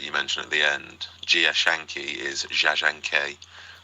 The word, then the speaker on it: Jia Zhangke: And if I may, um the director that you mentioned at the end, Gia Shanki is how I was told to pronounce it.